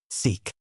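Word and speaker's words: TsIK: The real legislative body is the so-called central executive committee known as the CI K and pronounced SEK.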